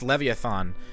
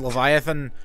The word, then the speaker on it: Leviathan: a little kid I thought it was it pronounced leviathon and then I learned how to properly pronounce it and now I'm a better person because of it okay this is leviathan warships yes exactly and the thing uh I